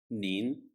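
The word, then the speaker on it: 您: in the second conversation nin is pronounced in the second tone the second tone sounds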